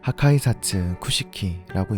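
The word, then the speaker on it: 破壊殺・空式: 뭔가 극장판 보다가 원작 보면 좀 성의 없이 그린 것 같은 느낌인데, 무튼 파괴살 공식의 일본어 발음은 하카이사츠 쿠시키라고 읽습니다.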